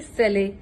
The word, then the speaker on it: Celje: जे silent होता है ऐसे ही सेले सेले में जे साइलेंट होता है ऐसे ही सेम पोना